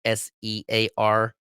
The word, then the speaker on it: SEARHC: There's also Southeast Alaska Regional Healthcare Consortium, or it's almost spelled search, but it's spelled search with the H and C fucking backwards. SEARHC, a nonprofit health consortium that serves the residents of Southeast Alaska.